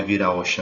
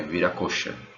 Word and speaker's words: Viracocha: Aqui, pessoal, também tem voltando um pouquinho aqui, não é Viraocha não, é Viracocha.